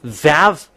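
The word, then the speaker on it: וָו: When we have seen this one that v equals vav like uh vug as a pronunciation.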